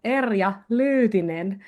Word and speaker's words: Erja Lyytinen: So I will say it in Finnish. It would go Erja Lyytinen.